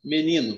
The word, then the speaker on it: menino: Outra palavra, ó, menino. Menino, a sílaba mais forte é o ni.